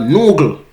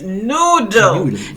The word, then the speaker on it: noodle: The word is noodle. Noodle is not noogle.